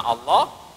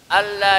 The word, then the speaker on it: Allah: Yang keenam, tidak boleh memanjangkan hamzah pada lafaz Allah. Mana hamzahnya? Di depan itu. Begini, Bu. Jadi bacanya, A-nya itu jangan dipanjangin. Jangan begini. Allah. Jangan. Ya. Harusnya benarnya Allah. Allah. Jangan kedengeran manjangin.